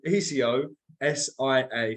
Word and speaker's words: Ecosia: person um but for everybody in the chat it's spelled Eco i o e c o s i a sorry so ecosia um and it's a search